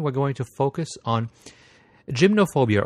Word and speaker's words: gymnophobia: going to focus on gymnophobia or gynophobia depending on whether you want to put the uh uh Greek or English pronunciation behind the word um it is a